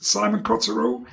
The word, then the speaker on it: Simon Coterill: a partner on this we have with us simon cottero did i pronounce it correctly yes thank you yes who